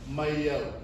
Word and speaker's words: mai au: I'm adding in an invisible letter. What letter are you guys hearing? It's not a Hawaiian letter. Y. A Y. Yeah? Anyone want to take a guess as to why I'm doing that? There's no Okina there.